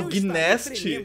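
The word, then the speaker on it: Gnasty: Acho que Gnast está começando a ficar preocupado com você. Ele falou Gnast? O G é mudo, o G é mudo.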